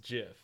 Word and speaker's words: GIF: it's a very popular jiff where they made it where he's shooting lightning bolts out of his hands it's Jeff the creator of it even said it is pronounced jiff I know but that's